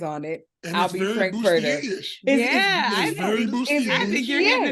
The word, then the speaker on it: Frank-N-Furter: I'm Frank-N-Furter. Dr. Frank-N-Furter.